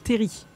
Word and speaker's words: terril: finalement teri la cel de terrils qu'on se prononce pas donc c'est terry c'est sympa le coin